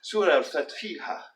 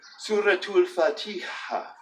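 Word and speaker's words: سورة الفاتحة: of the Quran, and that's colloquially pronounced Surah al-Fatiha, right? But in good, proper, modern standard Arabic, or good, proper Fusha, we would say Suratul Fatiha, Suratul Fatiha, Suratul Fatiha.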